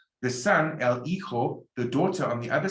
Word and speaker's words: hijo: The son, el hijo, the daughter on the other side is la hija. Remember the H is silent, and the J can be an H if you want.